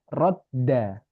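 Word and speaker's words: ردّ: Nah, kita tahu kalau ada satu huruf yang dimana dia itu sukun dan diikuti oleh diikuti oleh huruf yang berharokat, maka dia menjadi tasydid. Jadi dia bacanya adalah radda.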